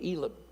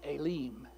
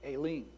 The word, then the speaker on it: Elim: called in my first instinct is to say Elam and it's pronounced elim I didn't know that but I did some research Aileen so elim Aileen however you want to say